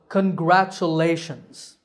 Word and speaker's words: congratulations: is for you congratulations the tricky part is the letters t u in the middle they are pronounced cha the word has a